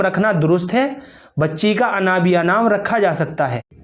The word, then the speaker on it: انابیہ: انابیہ جو لفظ ہے اس کا جو صحیح تلفظ ہے وہ کچھ اس طرح